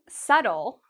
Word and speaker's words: subtle: This word, subtle, is a word many native speakers make mistakes with because native speakers actually see the B and they really want to say it, but it's incorrect.